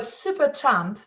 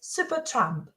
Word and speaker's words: Supertramp: And remember the word supertramp from our earlier conversations, that first syllable has the a sound, tramp. Try saying it, supertramp.